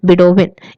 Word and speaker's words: Bedouin: तो यहाँ पे नोमैडिक हर्ड्समैन में हमने यहाँ पे जिस टाइप का बारे में बताया उसका नाम है बिडोविन। स्पेलिंग अगर मैं आपको बताऊं तो स्पेलिंग है BEDOUIN, ठीक है।